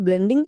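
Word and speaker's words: blue: চলো তাহলে এই নিয়ম অনুযায়ী আমরা এই ওয়ার্ডটিকে উচ্চারণ করি। বি L consonant blending word, এর জন্য হয়ে যাবে বয়েলো। নেক্সট ইউ, ইউ এর জন্য হ্রস্বকার, তাহলে কি হলো? বয়েলো এ হ্রস্ব, শেষের ই সাইলেন্ট, মানে ব্লু।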